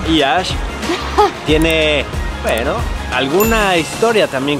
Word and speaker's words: Iași: Y bueno, Iași, que se escribe Iași, pero se pronuncia Iași, tiene, bueno, alguna historia